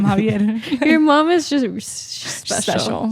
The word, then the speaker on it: Xavier: Yeah, but she can just say it Javier. Like that's literally how his X. parents call him Javier.